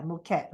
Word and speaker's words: Mükad: And of course, to all the ladies from, you call it Mükad, is it? Is that how you pronounce? Yeah, Mükad, okay.